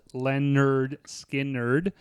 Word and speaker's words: Lynyrd Skynyrd: uh we did 1973 Leonard skiner pronounced Lenard skin nerd um this is their